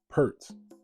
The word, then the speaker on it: pr: Now, the word pert consists of a bilateral, which is a symbol that is pronounced with two syllables, and that syllable is per, and that symbol is an enclosure.